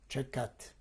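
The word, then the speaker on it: Tczekat: I'll try to spell it the best possible way. It would be T-C-Z-E-K-A-T, Čekat.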